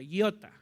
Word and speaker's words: iota: Iota, así se pronuncia, iota.